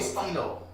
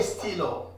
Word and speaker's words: stylos: But we write a S. But we don't pronounce a S.